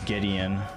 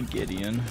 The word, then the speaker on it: Gideon: had when you say it like that it's Gideon it's actually Gideon oh yeah you better believe oh okay I